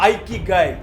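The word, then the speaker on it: 生き甲斐: उस शब्द को नाम दिया गया इकिगाई। कुछ लोग इसको ऐसे भी प्रोनाउंस करते हैं, आइकिगाई।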